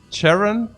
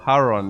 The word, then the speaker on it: Charon: the ch is is pronounced as h like haron guys are you trolling me here yeah we go from charon to caron to to haron uh so haron yeah hey guys okay